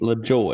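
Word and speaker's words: LaJoie: you unfamiliar with this, his name is Corey Lejeune. Is that how you pronounce his last name? LaJoy. LaJoy. I knew that.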